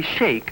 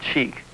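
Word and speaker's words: sheikh: what a young wealthy Shake looks like no I haven't mispronounced it the word is really shake and not chic but I guess you'll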